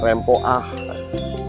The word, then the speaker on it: rempo: Kalau tebu yang kecil-kecil itu namanya rempo ya dibacanya rempoah.